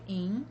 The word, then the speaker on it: Yin: Um deles é o Robert Yin, se escreve Y-I-N, né, porque ele é asiático.